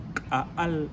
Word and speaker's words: Caal: It is actually pronounced Al in my mother language, which is one of the 22 indigenous languages in Guatemala.